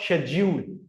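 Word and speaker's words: schedule: सो it's called शेड्यूल। शेड्यूल American में इस एस एच एस सी एच की sound simply sound से ही आती है। And they pronounce स्केेड्यूल। स्केेड्यूल। हम क्या पढ़ते हैं?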